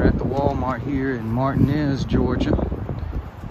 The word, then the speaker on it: Martinez: all right we're at the Walmart here in Martinez Georgia right between Augusta and Evans and Martinez is spelled just like Martinez but here in Augusta it is pronounced martinz all right let's see what what they got